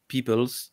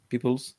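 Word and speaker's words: Peeples: par Al Sutherland et écrit par Samuel à peoples c'est comme ça qu'on prononce CH Oui peoples oui et B ça se prononce pas a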